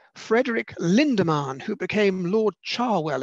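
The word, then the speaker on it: Cherwell: Lindemann, who became Lord Charwell, at least that's how I think it's pronounced in Oxford, Charwell.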